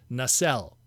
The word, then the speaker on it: Nacelle: The official, at least from what we were told, is Nacelle. So that's what we're going to go with today, Nacelle. I've heard so many different other ways.